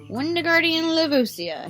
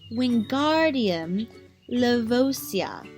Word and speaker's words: Wingardium Leviosa: "You're saying it wrong," Harry heard Hermione snap. "It's Wingardium Leviosa. Make the gar nice and long."